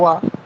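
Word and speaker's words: は: হা, এবং উচ্চারণ হবে ওয়া। এটা আমরা হা আচ্ছা, লিখছি অ্যালফাবেট, কিন্তু যখন সে পার্টিকেল হিসেবে বসবে তখন হা না হয়ে উচ্চারণ কি হবে? ওয়া। ওয়া।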